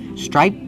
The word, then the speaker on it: striped: It's a stop T. Striped shorts. Striped shorts. The tongue goes up, but you don't really hear it.